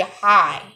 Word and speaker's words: high: is for rain foreign hi hi in this word you see the letter g is silent so it will be high high then light light